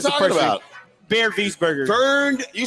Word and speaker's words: Wiesberger: Bernd Weisberger. Well, you got to say it. Wiesberger. It's How about Bernd Wiesberger. I said it right the second time.